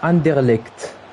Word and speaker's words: Anderlecht: Ça se prononce Anderlecht.